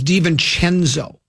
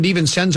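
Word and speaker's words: DiVincenzo: close circuit to Mark it's divon chenzo diven chenzo divon chenzo he keeps going D senzo and he says it real fast hope we no one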